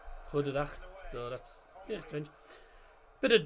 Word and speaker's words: goedendag: The G they pronounce as a H, so it's pronounced as huh, goedendag.